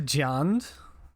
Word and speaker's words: Jund: was last seen playing jund man oh man you know what's a good match into jund it's it's definitely rhymes with earn um and i may